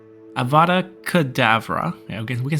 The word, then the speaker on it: Avada Kedavra: useful and here's the thing killing one with avocado Avada Kedavra okay we can say it right uh we'll